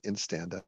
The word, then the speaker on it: INSTANDA: You are pronouncing it correctly. It is Instanda.